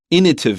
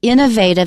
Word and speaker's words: innovative: Especially in British English, you'll hear people say innovative. And it's very hard for me to say. I'm happy you say innovative because I can't say the other way correctly. It's harder to say because we're used to the American pronunciation. Innovative. Some Brits say it that way, but it's more popular in Britain to say innovative.